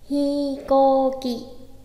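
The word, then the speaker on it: ひこうき: Cái lần đầu tiên mình phát âm ấy mình đọc là hikoki, tức là mình đánh hai trường âm là cả sau chữ hi cũng có và chữ cô cũng có.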